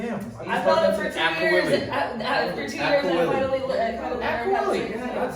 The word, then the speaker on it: Agcaoili: Agcaoili. Oh, damn. I thought it for 2 years. For 2 years, I finally learned Agcaoili.